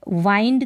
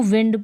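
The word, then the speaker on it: wind: wish फिर यह है इसको जो है वाइंड करके नहीं पढ़ेंगे अगर आप वाइंड पढ़ते हैं तो गलत है उच्चारण इसको विंड पढ़ेंगे विंड का मतलब क्या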